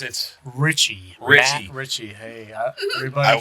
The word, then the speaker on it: Ricci: It's Matt Ricci, but you pronounce it Ricci.